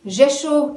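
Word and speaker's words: Rzeszów: poland will be via the jeshu airport uh jesus airport it is spelled with an r it begins with an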